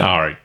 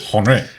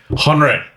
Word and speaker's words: Henri: Just say Henri once. Henri. See, you can say it. Ari. Now say it like this. Henri. Henri. That's right. All right.